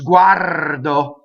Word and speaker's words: guardo: the next word is guardo has a rolled are right Wado so you can